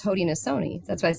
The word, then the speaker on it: Haudenosaunee: But it's Haudenosaunee. That's why it says the Haudenosaunee Lens, and we say Sony because it's the Seneca pronunciation. Some people say Shoni, but he uses that.